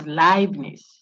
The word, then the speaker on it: Leibniz: People say, I had a student say it's Lebanon. It's Leibniz. So if you saw EI, like Einstein, see, the name Einstein starts with E and I. I suspect it's German or Dutch or something. I think it's German. So Ein, Heineken, those who drink that, high, you see, EI, but it's not hey, it's high.